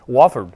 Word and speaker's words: Wofford: After Fairmont, Andrea ran for Division I Wofford, am I pronouncing that correct? Wofford yeah.